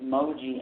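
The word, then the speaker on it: Mooji: One of them is Moji.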